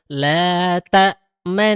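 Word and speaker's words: لا تأمنّا: Jadi cara bacanya la ta'manna, manna, senyum monyong senyum.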